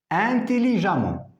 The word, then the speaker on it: intelligemment: réponse vous avez R intelligemment attention on écrit e et on prononce à intelligemment c'est la fin